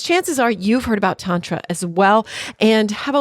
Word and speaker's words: Tantra: It's Tantra, and it is a nebulous concept, but I am so excited to dive further into it because chances are you've heard about Tantra as well and have a little bit, if